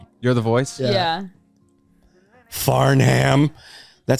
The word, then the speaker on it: Farnham: it was you're You're The Voice by John faram you're the voice yeah Farnham that sounds like a kid you went to